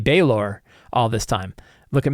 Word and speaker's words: Balor: one that has pronunciation apparently I've been mispronouncing Balor it should be bayor all this time look